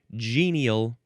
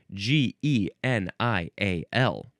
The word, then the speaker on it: genial: It's the word genial. G E N I A L. First form you can pronounce it with two or three syllables.